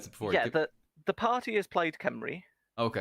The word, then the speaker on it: Plaid Cymru: Because I'm saying Paid Cymru like a dick, and you pronounced it before. Yeah, the party is Plaid Cymru.